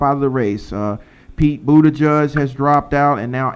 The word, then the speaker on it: Buttigieg: Pete Buttigieg has dropped out, and now Amy Klobuchar has dropped out.